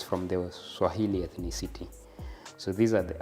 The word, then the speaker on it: Swahili: So for it, they used to pronounce it Swahel, not Swahili.